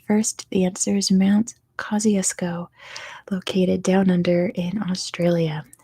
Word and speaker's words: Kosciuszko: the answer is Mount Kosciusko located down under in Australia and again like I always say that's not how you pronounce it in Polish that's how you pronounce it in Australian right it's not at all